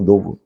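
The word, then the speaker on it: knob: 그거 안에 자 그게프드 그게 모양인데 어 뭐와 같은 모양이죠 큰노브 같은 모양이고 노브 같은 모양이죠 큰노브 노브 K 발음 안 되죠 노브 같은 모양인데 워크 작동하는 거죠 당신이 그것들 이거 그냥 이런 거 같아요.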